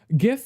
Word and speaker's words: GIF: It's like gif like good like begins with you know the same letter GIF like gify lube